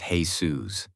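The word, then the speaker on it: Jesús: That was quite a while ago, but it's hard to forget a 6'6 detective named Jesus, even if it is pronounced Jesus.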